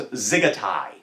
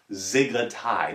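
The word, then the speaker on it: dziggetai: to learn today is zigetai zigatai the d is silent zigitai and that is a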